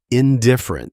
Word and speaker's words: indifferent: Indifferent stresses its second syllable on I.